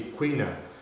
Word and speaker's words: quina: Well, this confirms that William Boothby misspelled or mispronounced quino, a word that should be the correct word being quina. So.